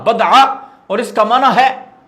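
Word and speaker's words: بَضْعَة: کا معنی یہ ہے، صحیح تلفظ بفتح موحدہ، کہ با کے فتح یعنی زبر کے ساتھ پڑھا جائے گا بدعہ، اور اس کا معنی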